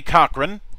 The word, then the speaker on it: Cochron: The pronunciations are correct. Most people actually really screw up Cochron, believe it or not.